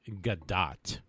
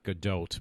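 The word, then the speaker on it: Gadot: name is actually the way she says it's pronounced as gdat not GDOT but gdat so you get an extra U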